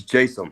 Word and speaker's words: Jaysam: Is it Jaysam or Jaysam? So it's actually neither. It's Jaysam.